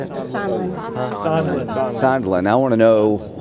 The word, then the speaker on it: Sondland: Sondland.